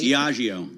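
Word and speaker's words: Diageo: little bit after UK distiller diio hope I'm pronouncing that correctly diio thank you I thought it would be that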